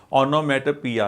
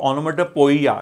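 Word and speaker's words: onomatopoeia: Okay, ऑनोमेटोपिया, इसको है ना प्रोनाउंसिएशन क्या है ना, इसको ऑनोमेटोपिया, नॉट, कुछ लोग बोलते हैं इसको ऑनोमेटोपोइया, नहीं, इट्स ऑनोमेटोपिया।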